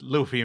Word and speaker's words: Luffy: Okay, but it is pronounced Luffy, Manuel.